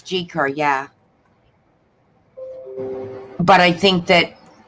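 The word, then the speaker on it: Gi Kerr: G. Kerr is. I think her name is pronounced G, not G-I. Oh, it is G. Okay, G. Kerr. I think it's G. Kerr, yeah.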